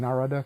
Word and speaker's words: Narada: Am I saying Narada correctly? You got it.